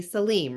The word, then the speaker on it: Saleem: And I've been saying it correctly, Saleem, right? Yeah, you're right.